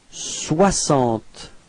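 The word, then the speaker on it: soixante: okay and then comes Swant okay so same thing as we had for this so This X is pronounced like okay Swant repeat Swant okay don't be afraid to pronounce w wah okay Swant okay and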